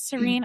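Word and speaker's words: Sarene: Serene? Princess Serene That's right. arrives for, yeah, Princess Serene arrives for a political marriage, only to learn that he is supposedly dead.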